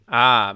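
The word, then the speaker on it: Maciste: Speaking of, I've just received a pronunciation guide. Oh, Cabiria and Machiste. Machiste.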